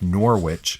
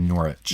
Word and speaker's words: Norwich: Which, W-I-C-H, the W is silent. It's actually like the town looks like Norwich. It's actually Norwich.